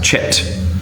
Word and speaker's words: chit: used for it which you have to be very careful about how you pronounce on a public tour is the barley has chit CH it you say you've chitted The Barley now when we say